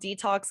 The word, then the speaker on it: DeTalks: It's called Detox with Allison, and it's spelled DETALKS.